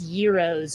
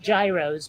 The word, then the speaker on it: gyros: they're not Greek I had to be taught that it's euros and not Gyros but yeah the restaurant